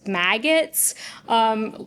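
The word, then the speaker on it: MAGATs: He's calling Trump's biggest supporters maggots, which is spelled M-A-G-A-T-S. I've seen that typed out, and I guess I didn't think about what it sounds like. So yeah, they're maggots.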